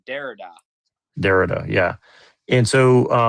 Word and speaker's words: Derrida: You were talking about like Dorita or Dorita. I don't know how you say his name. Postmodern. Yeah, Derrida.